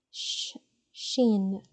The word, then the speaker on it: شين: Sheen, sheen. It's like when you're saying sh or something like that in English, okay? Sheen, sheen, okay? And yeah, you can just pronounce it as you pronounce SH in English, and that will work.